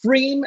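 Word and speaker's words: Pfriem: along the Columbia and it's called stream even though there's a silent P in the name it's called freem they're really known for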